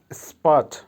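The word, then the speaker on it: спать: বা লুক আবারো বলছি তাকানো বা লুক ভার্ব স্পাট স্পাটের বাংলা হবে ঘুমানো বা ইংলিশে হবে স্লিপ আবারো বলছি উচ্চারণ হবে স্পাট বাংলা হবে ঘুমানো ঘুম বা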